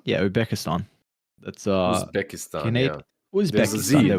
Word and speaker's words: Uzbekistan: Uzbekistan? Yeah, Uzbekistan. That's Uzbekistan. Yeah. Uzbekistan. There we go. Yeah, there's a Z in there. Yeah. Wasn't sure if you pronounced the Z or not.